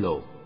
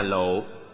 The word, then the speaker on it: lộ: Giữ giới trong sạch, tức là có bình thanh tịnh mới chứa được nước cam lồ. Nước cam lồ là gì? cam là ngọt, lồ đọc đúng là lộ, nghĩa là xương.